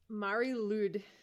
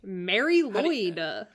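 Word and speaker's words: Mari Lwyd: listening to a podcast about it or something Mari ludd LD let's look up how to say this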